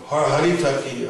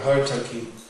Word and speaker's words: haritaki: At least in the Bengali pronunciation, I don't know, there's some other. So, haritaki or hartaki is special, astringent.